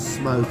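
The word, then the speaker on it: Smoqe: We were going to eat another place on the island called, I think it's called Smoke. It's spelled S-M-O-Q-E instead of K-E.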